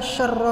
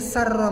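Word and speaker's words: شرّ: Harusnya adalah syarra ma qadait pakai shin besar, tapi dia bacanya kecil jadi sarra ma qadait.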